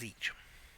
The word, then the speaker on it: Tzich: It turns out it's just Tzich. It's like tsunami. The T is silent.